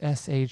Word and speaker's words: Siobhan: But in all fairness, it is spelled Siobhan. No, no, no. I can't handle that. But pronounced Shivaughn.